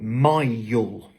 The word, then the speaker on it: mile: Donc pour prononcer ce mot-ci, on ne dit pas 1000, comme le dirait peut-être un francophone, mais plutôt mile.